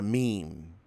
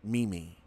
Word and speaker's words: meme: She's talking about a meme. And she pronounces it Mimi.